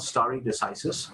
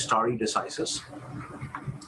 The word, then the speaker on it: stare decisis: idea of judicial precedent this is called story decisis okay so this pronunciation is star decisis okay so that basically